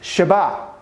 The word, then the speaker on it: Shabbat: You'll also note that this is the sh sound, this is the b sound, and that's the t sound for the number 7, which is pronounced Shabbat.